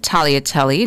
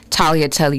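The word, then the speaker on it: tagliatelle: Talia telly not seeing that but to use the word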